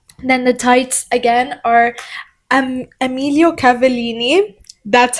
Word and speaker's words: Emilio Cavallini: And then the tights again are Emilio Cavallini. That's how you pronounce the name.